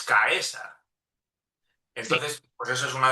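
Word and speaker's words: Caesar: Porque la la la secuencia CAE como en César, ¿no? Ellos la pronuncian Cesar, ¿no? Cuando en en latín realmente estrictamente es caesa.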